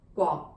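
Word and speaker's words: 國: Guo means country, okay, and properly pronounced as the Guo with the GW kind of sound, Guo, Guo. But in the lazy pronunciation, I'm not calling you lazy if you do this, it's what everybody does, is just Go, right?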